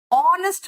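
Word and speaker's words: honest: अ 1 rupee coin, ऑनेस्ट मैन, ओ आ रहा है pronunciation, an ऑनेस्ट man, year, N आ रहा है, ईयर, ई का प्रोनाउंसिएशन आ रहा है, एन ईयर।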